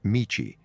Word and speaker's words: michi: in Taoism, or road, can be pronounced in Japanese either natively as michi, which is a common word for road, or approximately Chinese style as do, as in the martial art judo, the way of suppleness,